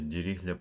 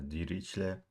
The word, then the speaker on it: Dirichlet: Yeah, I've heard some of people saying that, like pronouncing this as Dirichlet. But yeah, I like it as Dirichlet. Yeah, that's most of the world pronounce this as Dirichlet.